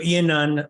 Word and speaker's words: Iannone: your best bet so Ian none as it's basically spelled here but yes yeah yeah